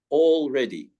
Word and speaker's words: already: That's only spelt with an A, but the A makes it a long vowel sound of all. Already.